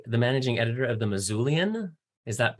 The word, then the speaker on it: Missoulian: You are the managing editor of The Missoulian. Is that pronounced correctly?